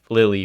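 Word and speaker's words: Lili: what did they announce Lily and then they do or lily sorry I keep on saying Lily just because it's spelled l-i-l-i and I'm like that is Lily um but what if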